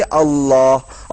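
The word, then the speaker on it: الله: अंदर अल इलाह था लेकिन जब प्रोनाउंस होता है अरब के लोग जब प्रोनाउंस करते हैं तो स्टाइल में अल्लाह और यही चीज कुरान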